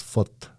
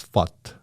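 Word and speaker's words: født: So, for example, the Norwegian pronunciation of born is foot, but the Danish version of born is fut.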